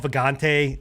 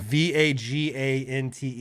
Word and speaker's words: Vagante: You know, along with we pronounce it as Vajayjay, but you know, it's called Vagante, like, or it's spelled V-A-G-A, yeah. Vagante something, yeah. Vagante.